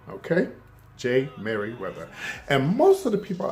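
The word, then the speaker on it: Jey Merriweather: He goes by the name of Jay, that's spelled J-E-Y Merriweather, okay? J. Merriweather.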